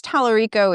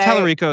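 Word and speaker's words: Talarico: Everyone apparently says his name wrong, so maybe I just did. I But think Tallarico is right. is Tallarico that is right, right?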